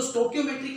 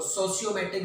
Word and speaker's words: stoichiometric: मैंने बोला था कि प्रोनाउंसिएशन आप अपने अकॉर्डिंग कुछ भी बोल सकते हैं इसको, कुछ आपको इसको सोशियोमेट्रिक बोल सकते हैं आप, है ना, नॉन सोशियोमेट्रिक, और कुछ हम इसको कहीं पर हम इसको प्रोनाउंस कर रहे हैं स्टोक्योमेट्रिक, नॉन स्टोक्योमेट्रिक, तो आपके ऊपर है।